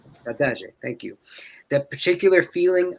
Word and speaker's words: saudade: Who can pronounce it? Saudade. Saudade.